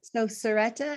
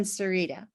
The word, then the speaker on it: Sarita: So we've got Serretta and Sarita. That's right. I apologize about that. You got it good. You pronounced it correctly.